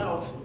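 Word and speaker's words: ÅF: And Anna is going to speak about one of Daniel's projects. So Anna from AF, but in Swedish, the A with a little round on it, you don't pronounce it as A, you pronounce it as O, so OF.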